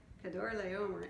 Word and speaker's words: Kedorlaomer: 1 year later, Kedorlaomer, there you go, that's how you say it, Kedorlaomer and his allies arrived